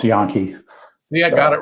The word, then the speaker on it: Jahn: hey Phil yeah have my last name is pronounced yon see I got it